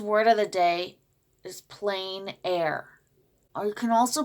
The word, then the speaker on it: plein air: the day today's word of the day is plein air or you can also pronounce it on plein air that's French plein air painting is the act